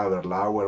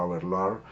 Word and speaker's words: Aberlour: Así que otras opciones que considero como botellas de entrada porque son fáciles de beber son Singleton 12, Aberlour 12, se pronuncia Aberlour o Aberlour, pero la podemos llamar simplemente Aberlour, Cardu 12,